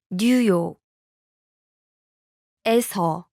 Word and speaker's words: 뉴욕에서: Listen to New York and the location marking particle pronounced separately. 뉴욕. New York. 뉴욕. 에서. The location marking particle. 에서. Now listen to the New York followed by the location marking particle. 뉴욕에서. 뉴욕에서. Notice the difference?